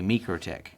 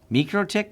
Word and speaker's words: MikroTik: Is that I've actually logged into a MikroTik. MikroTik? MikroTik? Mikro. I think in Latvia it's pronounced Mikro.